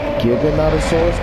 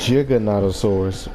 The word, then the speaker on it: Giganotosaurus: The way it is said is you think it would be Giganotosaurus because it's a G, but the way it's actually said is Giganotosaurus, which makes it sound like it has a J in it.